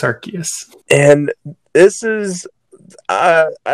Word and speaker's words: Arceus: most important thing which is how do you pronounce the god pokemon's name it's arceus and this is uh i don't know the